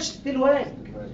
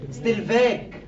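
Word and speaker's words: Stellwag: يفكرك بنطق اسمه الصح اسمه ما بينطقش ستيل واج ستيل فاج اسمه ستيل فاج عشان يفكرك بان هو ستيل فاج ضحى بالدبليو في اسمه وسماها تي 2 في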